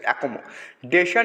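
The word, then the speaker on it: accommodation: এ double CO ঠিক আছে, double M ও ঠিক আছে, অ্যাকোমো ডেশন না ডিশন, সঠিক উচ্চারণ হচ্ছে অ্যাকোমোডেশন।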